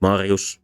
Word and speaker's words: Marius: And the second rule to Latin and later Italian stress is that open syllables before closed syllables cannot be stressed. So because of this, the male name Marius was pronounced Marius, and Mario is still pronounced Mario.